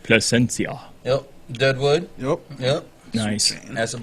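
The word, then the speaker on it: Plasencia: Placencia. Yep, that's right. Placencia.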